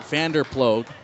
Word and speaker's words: Vanderploeg: $10 if you can spell it. 2-2. Outside by a lot, full count. Vanderploeg, V-A-N-D-E-R.